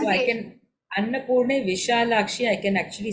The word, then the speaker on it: Vishalakshi: So I can Annapurne Vishalakshi, I can actually say happily, no? I don't have to say Visalakshi. No. Visha is the correct one.